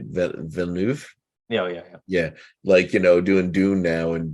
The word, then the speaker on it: Villeneuve: Look at Denis I never pronounced his name right. Villeneuve.